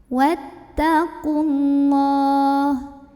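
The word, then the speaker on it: وَاتَّقُوا اللَّهَ: Wattaqullah. Kemudian lam jalalahnya dibaca tafkhim karena huruf sebelumnya qaf barisnya dhammah. Maka bacanya tebal, pangkal lidah dinaikkan. Wattaqullah.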